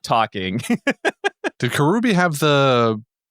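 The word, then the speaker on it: Kuroobi: No, I actually It's interesting that you think that is it Kurobi? Is that how you pronounce it? Kurubi. Yeah, Kurubi.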